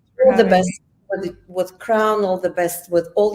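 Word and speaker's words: KRWN: So, we are on Twitter, Crown, which is spelled KR WN_studio, and it's the same user handle for Instagram as well.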